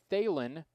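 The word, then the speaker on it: Thelen: stretch in athens 34 luke phelan t-h-e-l-e-n 34 luke thalin new pitcher for the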